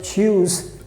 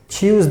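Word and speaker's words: tschüss: h u s s so the pronunciation is very simple choose choose that means also bye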